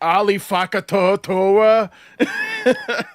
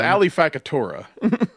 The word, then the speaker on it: Fakatora: It was like Ali Fakatoa. Adam Bush did just pronounce it correctly. Yeah, it's Ali Fakatora.